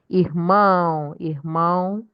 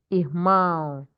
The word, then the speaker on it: irmão: Irmão, brother, irmã, sister. You can see the difference between brother and sister is the O. Irmão, irmã.